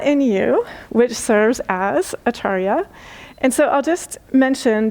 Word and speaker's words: Acharya: So it's Acharya Premadas and Acharya Kashi. So there's a slightly long A on the last syllable, Acharya Kashi, but there's not a quiz later, so you're okay.